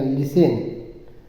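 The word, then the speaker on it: listen: करो ठीक है सुनो सुनो का एल आई एस टी ई या लिसन टी साइलेंट हो जाता है लिसन पढ़ा जाता है ठीक है तो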